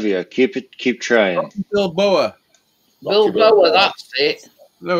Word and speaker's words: Balboa: Rocky Bilbao, or whatever his name is. Rocky Bilbao. Balbao. Oh, I don't know how you pronounce it.